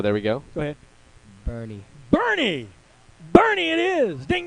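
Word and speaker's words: Boerne: e r oh there we go go ahead bernie bernie bernie it is all right that's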